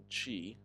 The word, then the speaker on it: Qi: the Q sound it's Qi right you have to stretch your lips back like you're smiling and then T not